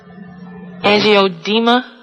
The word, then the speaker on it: angioedema: medicine because he has I'm not pronouncing that right. Angioedema. Yes, that's what it is.